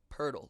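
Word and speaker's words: Poeltl: is uh jacob pirtle why there is an r sound in his last name i don't really know it's spelled p-o-e-l-t-l that said his name is purdle like a turtle i'm taking the over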